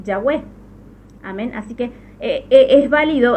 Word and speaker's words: Yahweh: ya lo expliqué, Yahvé, porque al pronunciar esta como Bab es el hebreo moderno, pero en el antiguo no era una Bab, sino se llamaba Wab. Es por eso está marcadito ahí. Es por eso que antes se lo pronunciaba así Yahweh.